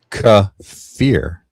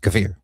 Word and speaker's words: Kiefer: Accent on second syllable.